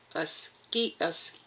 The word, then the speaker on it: Asclepius: Asclepius. Asclepius. That's how it's pronounced.